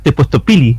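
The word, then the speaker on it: tepoztopilli: aparece el tepostopil y se escribe con doble R, pero es tepostopili, ¿cachai? Se pronuncia como una sola L, entonces hay varias cosas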